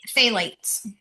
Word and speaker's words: phthalates: It's phthalates, Yes. but it's spelled with a PH.